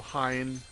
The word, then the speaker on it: Hine: So Hine, either, like Heine, even I think is that E?